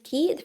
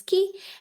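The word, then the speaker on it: 気: which is pronounced as key very same with we saw three examples every time it was at the end and it was pronounced as ki and the first console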